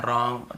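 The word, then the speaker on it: wrong: सीधा ही देख लीजिए जैसे डब्ल्यू के साथ यदि आपको आर मिलता है तो डब्ल्यू को नहीं पढ़ना है और आप देखेंगे यहां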